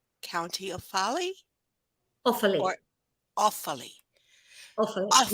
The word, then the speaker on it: Offaly: Or Offaly? Offaly. Offaly. Not awfully. Offaly. Offaly. Yeah. It sounds French then.